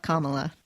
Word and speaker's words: Kamala: If you ever forget how to say it, just remember the Kamala. word comma. Like Mamala. Yes, like Mamala. We will have our national Mamala Kamala.